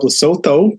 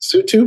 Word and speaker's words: Lesotho: I was calling it Help Losotho, but that is not correct. It's pronounced Lesotho.